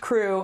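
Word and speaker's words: krewe: They are social clubs, social aid and pleasure clubs is sometimes what they're called, but it's called a crew, which is spelled K R E W.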